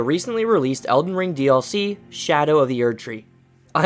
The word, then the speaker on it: Scadu: following this path here you may notice how I pronounce scadu well I learned from another video that you're supposed to pronounce it as Shadow so I'm going to go ahead and roll with that because that just makes so much more sense so no it's not